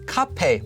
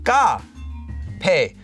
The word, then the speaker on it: 카페: 카페 is actually not pronounced as 카페 most of the time. You'll actually hear it as 까페. So a completely different letter. Instead of 카페, you hear 까페, 까페.